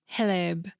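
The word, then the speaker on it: хлеб: Apparently, the X is pronounced like an H, so it's more like Heleb.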